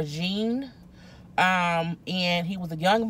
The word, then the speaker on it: Jean: not mispronouncing his name it looks like it's pronounced about them either John or Jean and he was a